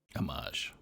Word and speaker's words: Amage: Amage. It's Amage. Amage. Okay. Amazing. It's like a mage, like mage is in major.